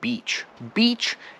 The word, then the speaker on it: beach: get to the word beach beach is e but it's a long e right you can see